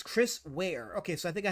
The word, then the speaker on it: Ware: mark on that one big band says Chris wear okay so I think I had it pronounced correctly Chris wear Chris SAR Chris SAR